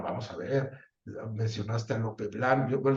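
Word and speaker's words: Lope Blanch: a ver mencionaste a Lope blano yo dije Lope blan porque es como se pronunciaría en catalán pero es el maestro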